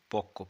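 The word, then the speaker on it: পক্ব: তাই এটা উচ্চারণ হবে পক্ষ প কয় বয় পক্ষ আবার পরিপক্কও তাই পঋ প কয় বয় পরিপক্ক তাহলে কয় ব এর উচ্চারণ হবে কয় ক এর মত মনে হবে দুটো ক আছে এখানে এবার দেখো কি লিখছে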